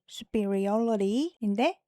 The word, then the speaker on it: superiority: 근데 이제 발음이 강세가 뒤로 옮겨져요. 조금 더 길어지니까 강세가 조금 더 뒤로 왔어요. 이거보다는. 그래서 superiority인데 그럼 명사형이니까 우수, 뭐 우월 이렇게 하면 되겠죠.